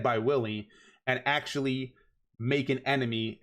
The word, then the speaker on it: Willy: to this speech while willy not wiley because i know some of you guys got a little mad at me for pronouncing his his name wrong if willy and mageth